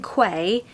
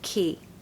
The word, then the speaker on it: quay: to say key so the hack is that it's literally the word key okay so when you see this word q-u-a-y don't pay any attention to those letters just say key number three suit of